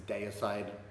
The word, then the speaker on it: Deicide: Okay, so I grew up in Australia, so the way I pronounce it is Deicide, because Deicide, it derives from the word deity, meaning God, and yeah, that's just how I was taught to say the word deity.